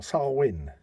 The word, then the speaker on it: Samhain: first one he actually refers to it as Samhain right well sarwin fair enough that's actually sounds a lot more